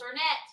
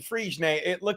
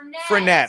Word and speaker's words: Fernet: Why do you do I'm drinking Friegenet. It's not Friegenet. No, it's not. That's champagne. Why do I keep Fernet? I keep saying it wrong.